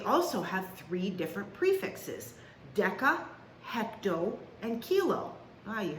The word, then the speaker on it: deca: have three different prefixes deca hecto and kilo oh you heard of that one right deca means 10 and it's a hardca not a soft c hecto means hundred and